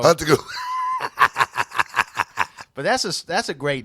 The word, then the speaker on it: Antetokounmpo: But Yuri, you have no problem saying the Antetokounmpo.